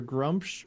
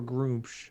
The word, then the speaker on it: Gruumsh: According to this wiki, it's either Grumpsh or Groomsh. Either one are acceptable.